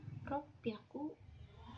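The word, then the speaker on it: ろっぴゃく: baik-baik ya teman-teman semua kalau 300 itu dibacanya sang biaku kalau 600 dibacanya ropiaku dan dan 800 dibacanya hepiaku nah itu yang harus teman-teman ingat karena cara bacanya beda sendiri tidak sesuai polanya kemudian ee kalau pada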